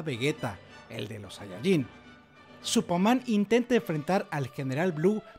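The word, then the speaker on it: スーパーマン: digo solo porque sí supaman la pronunciación japonesa de Superman es una pista importante se ha Comparado el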